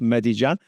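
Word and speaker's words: Medellín: so there's Bogata there there's medij Jan that's how that's pronounced Med Jan and then up uh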